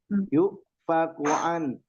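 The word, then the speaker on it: يؤفكون: Yuk fakuan. Yuk ya itu bukan mad. Karena di atas waw ada hamzah. Jadi harus digentak bacanya. Tapi tidak ke huruf ain.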